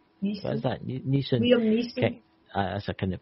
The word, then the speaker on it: Liam Neeson: If Liam Nelson, Neeson. What is that? Neeson. Liam Neeson. That's a kind of pronounce that there.